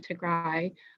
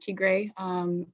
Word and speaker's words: Tigray: ethiopia didn't start with the northern region of tegra by the way it's called it's pronounced not tigre attacking the northern command this is a narrative